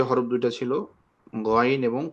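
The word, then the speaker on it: غ: দেখেন হলকের শেষ প্রান্ত যেটা, সেখান থেকে আপনার উচ্চারণ করবেন গইন, গইন, গইন, গইন, গইন, গইন, গইন, গইন, গইন, খ, খ, খ, খ, খ, খ, খ, খ, খ, খ, খ, খ।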